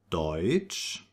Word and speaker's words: Deutsch: The combination EU is pronounced like oi. And some examples for that are Deutsch, right? German is Deutsch.